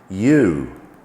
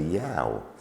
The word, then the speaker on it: you: You, well, we spell this Y-O-U. So strictly speaking, we should say yow. But no, in this word, the OU simply makes the long U sound, you. And when we take the